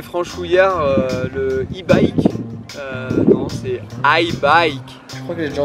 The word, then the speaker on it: Haibike: Alors, on entend souvent i-bike, e-bike, et je pense que la bonne prononciation c'est i-bike. La plus mauvaise prononciation que j'ai entendue pour la marque était e-bike, et bien sûr on dit i-bike.